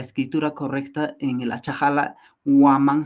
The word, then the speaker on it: waman: correcta en el achahala waman se escribe con W a m a n waman que significa alcón Entonces nos estamos dando